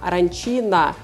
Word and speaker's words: arancina: На Западной Сицилии, например, в Палермо, это блюдо женского рода, поэтому произносится с окончанием «а» – аранчина.